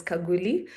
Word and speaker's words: Khaguli: It's pronounced as Kaguli.